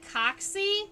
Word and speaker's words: coxa: good example of one I like to say that the coxy is the hip bone um spelled like the coxa is the hip bone